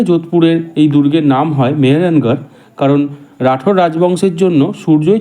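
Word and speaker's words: মেহরানগড়: তারা দুর্গের নাম দিয়েছিল মেহেরানগর একটি নাম যা দুটো শব্দ থেকে এসেছে মিহির বা সূর্য এবং গড়কে বোঝায় পরবর্তীকালে স্থানীয়রা ধীরে ধীরে মেহেরগারকে স্থানীয় উচ্চারণে মেহেরানগার নামে ডাকতে শুরু করে তাই এই দুর্গের নাম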